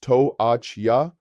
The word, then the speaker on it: toalla: Towel is toalla, pronounced toachya. The double L again makes the Y sound.